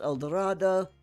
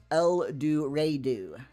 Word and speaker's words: El Dorado: But again, Missurrians being Missurrians, it's not pronounced El Dorado. It's pronounced El Duru.